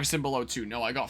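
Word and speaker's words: Tzimbalo: I got Cimbalo, which is spelled like T-Z-I-M-B-A-L-O.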